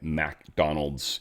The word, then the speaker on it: McDonald: It's not McDonald's restaurant, obviously, though many people pronounce it that way. It's MC Donald's. MC is Mick. It's always been, always will be, always should be.